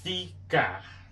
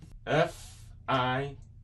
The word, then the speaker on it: ficar: Portuguese, ficar. Ficar. F-I-C-A-R. Ficar. Ficar. F-I-C-A-R.